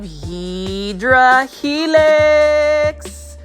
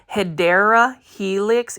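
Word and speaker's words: Hedera helix: of different types of HRA helix or the correct way to say it guys if you want to be that person who wants to correct people it's actually hyera Helix English ivy this one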